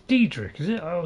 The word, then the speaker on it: Daedric: Supposed to know everything there is to know about Daedric cults. It's Daedric, is it? Oh, it's Daedric. Or does he just can't pronounce it properly?